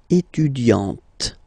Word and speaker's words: étudiante: Okay, but then for the feminine form, elle est étudiante. Okay, t. Okay, you don't really insist on the E, but you insist quite much on the T. Elle est étudiante.